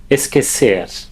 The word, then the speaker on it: esquecer: Esquecer is also a regular verb, and a pronunciation tip here, that U is silent. Esquecer.